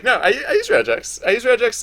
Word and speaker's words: regex: I pronounce it regex because I think if it was a word and not an abbreviation, it would be pronounced regex. I understand. Yeah, I think it's hilarious when people pronounce it rejects because that sounds like REJECTS.